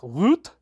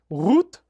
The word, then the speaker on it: Rutte: Yesterday, the NATO Secretary General Mark Rutte, I love that, right? That pronunciation, was in Washington meeting with 47. Today, Rutte is, oh, I even got the tongue roll on that one.